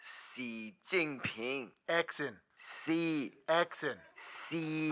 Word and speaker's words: Xi Jinping: It is pronounced Xi Jinping.